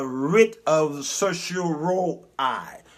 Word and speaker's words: certiorari: called a writ of certiorari. Certiorari is the proper pronunciation of it, or what they call a writ of cert.